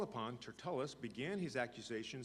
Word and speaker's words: Tertullus: with the elders and a certain orator named Tertullus. I'm going to pronounce it Tertullus. Tertullus just doesn't sound right.